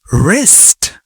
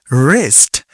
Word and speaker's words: wrist: This is wrist. Wrist. Here W is silent.